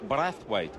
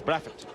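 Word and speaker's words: Brathwaite: We we hear yes it's Craig Brathweight but if you're a Beijian it's Brafett so it might just slip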